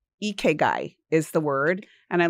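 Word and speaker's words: ikigai: It's Japanese and it's eguy is the word. And I love that even the way it looks when it's spelled.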